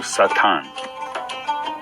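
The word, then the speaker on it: שטן: I think everyone is familiar with the word Satan, which is pronounced in Hebrew Satan, and brings up images and thoughts of pure evil.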